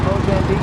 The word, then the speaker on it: Mozambique: I'm going to give you a little roundabout sponsored by my 3 fake girls, Monique, Unique, and Technique, which rhymes with Mozambique.